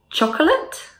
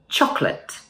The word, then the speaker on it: chocolate: So for this word, let's drop the O in the middle. So it would sound like this. Chocolate.